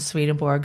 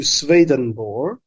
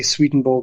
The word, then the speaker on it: Swedenborg: shifted from swedeborg to swedenborg and I always just sort of say sweeten both myself so I mean I I mispronounce I just I butchered the name all the time um yeah